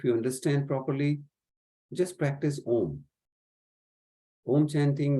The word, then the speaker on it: Om: It will start from the bottom of your spine, because Om is, in English, you can consider it as A-U-M.